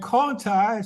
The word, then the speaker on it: Conti: One is spelled T-O-N-T-I, Tonti, and Conti, C-O-N-T-I. But they're pronounced differently. Why is that? Well, one was under the Spanish and one was under the French.